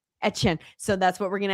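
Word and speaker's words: Etienne: Etchen.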